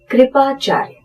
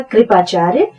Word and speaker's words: कृपाचार्य: यहां पर एक बात का ध्यान रखिए, जब रफार लगा होता है तो जिस अक्षर के ऊपर वो लगा होता है उसका उच्चारण उस अक्षर के पहले होता है।